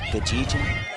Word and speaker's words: Gajin: It's it's a hard G. It's Gajin.